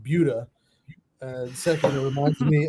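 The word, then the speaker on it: Buda: about Buddha why do you love living in Buddha instead of in Austin well first of all it's pronounced budha and second it reminds me a lot of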